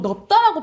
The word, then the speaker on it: 넓다: 여러분, 이건 어떻게 발음 날까? 넓다. 이거 넓다야? 넓다야? 보통 넓다라고 발음하는 사람들 많거든요. 넓다? 넓다예요. 넓다.